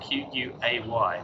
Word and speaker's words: Quay: This takes us around to Circular Quay, or Circular Quay, as a lot of tourists call it, because it's spelled Q-U-A-Y, but that's Quay.